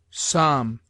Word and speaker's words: psalm: L is sometimes mute, as in calf, half, halves, calves, could, would, should, psalm, talk, salmon, falcon.